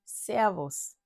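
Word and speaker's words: Servus: région bavaroise et en en Autriche c'est aussi servos servos il dit souvent serv c'est ça aussi c'est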